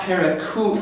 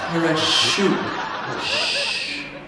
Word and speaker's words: parachute: No, it's not paracoot. It's parachute. Parachute. Parachute. Oh, CH can be ch, k, and sh, right?